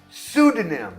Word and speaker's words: pseudonym: Pseudonym. Então, em inglês, quando você vê um P seguido de S, eu não consigo pensar numa situação que você pronunciaria esse P.